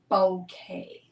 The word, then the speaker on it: Bokeh: o k h but I've looked it up and how to pronounce it and it's bouquet hi Ellie good morning so kind of sounds like bouquet of flowers but it's not it's more like bow like a bow and then K the name the female